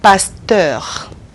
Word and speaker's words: pasteur: When you pronounce the E-U-R, you have to pronounce the R. The R. That R at the end is had to be pronounced.